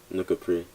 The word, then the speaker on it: Nuka Prix: Alright, so first part is Nuka. It's just a name that my dad gave to me, and the second part is Prix, like Grand Prix, like, you know, like yeah, Nuka Prix.